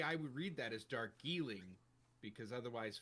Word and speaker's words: Darjeeling: So it's So more like, of a the D is like a G. Yeah. Darjeeling.